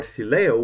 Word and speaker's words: Sileo: So Sileo or Sileo, which is pretty much the correct pronunciation according to Coolstar, will support Cydia legacy